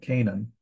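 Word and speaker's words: Canaan: at it in English why do we pronounce it Canan well it's Canan that's why we have the two A's actually Three A's but two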